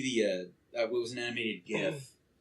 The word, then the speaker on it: GIF: It was an animated GIF where I said GIF with the hard G. Not a GIF.